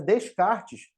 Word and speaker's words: Descartes: o René descarte tá o nome dele se escreve Descartes Ah mas em francês significa ele seria o Renato das cartas Então seria descarte que é como se pronuncia né em francês o nome do desculpa